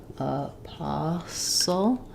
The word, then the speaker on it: apostle: Okay, we have a question about apostle. Apostle. So the T is silent.